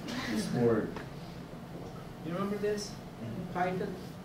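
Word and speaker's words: chiton: Chitin is a common name for this organism. Same pronunciation as chitin.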